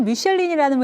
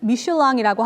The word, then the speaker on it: Michelin: 미슐랭은 사실 미슐린이라는 회사예요. 미슐린 타이어 아시죠? 프랑스에 본사가 있는 회사고요. 당연히 불어 발음으로는 미슐랑이라고 하는데 미국으로 건너와서 미국식 발음으로 미슐린이 됐고요. 한국에서는 미쉐린으로 불리고 있습니다. 미슐린의 마스코트가 이 비벤덤이라는 타이어로 만들어진 캐릭터잖아요.